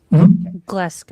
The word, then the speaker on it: Glasgow: And the neurological assessment tool, am I pronouncing that right? Glasgow Coma? Glasgow.